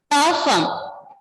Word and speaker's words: parfum: Before that, perfume, what we will pronounce? Before Tour de France. No, ma'am. Perfume. Parfum.